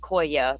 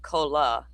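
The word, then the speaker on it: Cholla: It's pronounced Koya, but it looks like Kola. But it's Koya Ridge.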